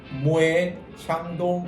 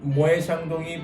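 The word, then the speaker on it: Moët & Chandon: 대부분의 분들이 또 이 발음을 모엣 샹동 이렇게 발음하는 분들이 많아요. 그렇죠. 요거는 사실 저도 조금 얘기를 들어보고 싶었는데 네네. 왜 모에 자. 모에 샹동이라고 하는 거예요?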